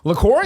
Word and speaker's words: LaCroix: It says, Hibiscus, Lacroix sparkling water, pronounced LaCroix, was developed to give